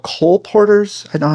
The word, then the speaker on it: colporteur: The I think they're called colporteurs.